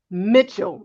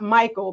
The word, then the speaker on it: Mitchell: So it is not Michael because that's what I thought.